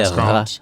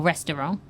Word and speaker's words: restaurant: in British English, we tend to say restaurant or restaurant. 3 syllables. Yeah. It's kind of anglicized, but there's 3. And then the Americans do restaurant.